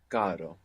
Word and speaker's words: caro: it's like carro, but with one R. Caro. Caro. So again, it's a nice pair to feel the difference between having the single R and the double R, just as we saw